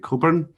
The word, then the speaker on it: Coburn: Just to introduce myself, my name is Coburn, and that's my contact details on the first slide there. My surname is Coburn, same pronunciation as Alistair, who wrote the Agile Manifesto co-author.